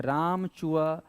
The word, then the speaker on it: राम चुआ: कर यहां पर राम चुआ आपको बोलना है उच्चारण करना है राम चुआ हर्मो सतखंडा महल तो राम चुआ हर्मो को